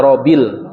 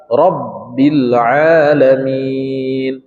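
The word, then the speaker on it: رب العالمين: yang keempat yang kelima RAB RAB RAB gak boleh bacanya rbil rbil engak boleh rbil rabbil alamin alhamdulillahibbilaminbilamin kemudian arrahmanirrahim jelas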